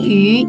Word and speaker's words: 鱼: Tiao memancing, yu ikan. Ini sama ya. Yu pelafalannya adalah seperti kita ngomong huruf i, tapi mulut kita manyun. Yu gitu.